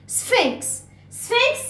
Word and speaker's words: Sphinx: البي اتش يا سنة أولى بتتنطق ف ف ف. اوكي. سفينكس يعني ابو الهول، عارفينه.